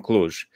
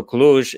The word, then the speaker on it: Cluj: transylvania but we're not from bistritsa we're from cluj uh so cluj is the largest city in transylvania and it's